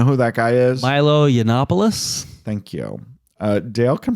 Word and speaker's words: Yiannopoulos: Yana you know who that guy is Milo yiannopoulos thank you uh Dale can pronounce things I cannot anyway Milo is I